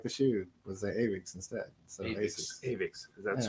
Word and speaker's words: Aviks: Aviks. Aviks. Okay, it's easy. It was just... No, I trust like the shoes. judgment. Asics. Just like the shoe. Was the Aviks instead.